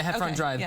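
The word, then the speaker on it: Heffron Drive: Drive is that how you say it yeah hefron drive but basically it's the street I grew up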